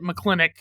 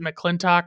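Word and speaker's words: McLintock: favorite, Mcccleintoch or Mcccleintic, whichever way you want to pronounce it. They pronounce it mcclennic in the movie, but it's like I pronounce it mccllintok when I'm saying the name of the movie.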